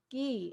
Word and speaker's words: ghee: pronounced we pronounce it gee is that right so it's concerned it has more of an h sound yes and it's considered it's ghee it's considered medicinal so